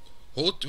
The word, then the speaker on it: Hoth: Hoth wird gesprochen, wie es geschrieben wird. Weil es andere wie Hoth, Hoff oder...